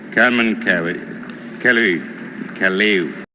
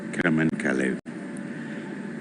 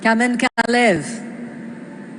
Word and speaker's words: Kamen Kalev: The Special Jury Award goes to the film February, and the director is Carmen Kelly Kalev. It's difficult to sometimes pronounce it properly. It's Kamen Kalev. Kamen Kalev.